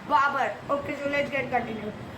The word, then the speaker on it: Babur: shouldn't kill anyone and i'm sorry for the wrong pronunciation of baboon it's barber okay so let's get